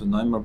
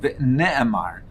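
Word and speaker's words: ונאמר: But according to the way the Taisus is learning, it's not v'noimar lefonav Haluka, it's not pronounced v'noimar, but v'ne'emar.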